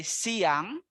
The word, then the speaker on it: siang: And then afternoon, we say siang, only 2 syllable as well, siang.